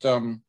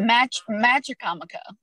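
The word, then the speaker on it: Machicomoco: energy provider, to create Macacomico, am I pronounce it right? Macacomico State Park? Magicomico. Magicomico, I was close.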